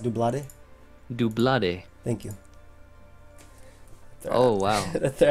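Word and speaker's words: Doublade: It's actually pronounced Dublade.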